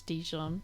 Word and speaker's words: Dijon: I'm just gonna play "The Dress" by the artist who I hope you pronounce Dijon. Yeah, because it's like Dijon mustard.